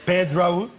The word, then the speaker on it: Pedro: So anyway, if you want to pronounce it like if you were Spanish, excuse me that I'm so long, then it is Pedro.